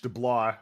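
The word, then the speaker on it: DeBlois: Also worth noting Dean Dubois who was also uh I think I mispronounced his name because they co-directed both Lilo and Stitch. B L O I S DL. It's French Delah.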